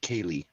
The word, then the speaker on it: Keely: let me check it keely is pronounced kaylee kaylee yeah i'm sorry i'm sorry if i pronounce your name wrong uh i always say keely too and she doesn't seem